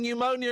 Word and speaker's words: pneumonia: The silent P in pneumonia and pneumatic. You've got to love a silent P.